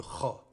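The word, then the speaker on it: خ: Le Kha est une lettre emphatique. Elle se prononce comme la première lettre du mot espagnol joven, jeune, ou comme le CH du mot allemand Beur, livre. C'est la première lettre du prénom arabe Khadija.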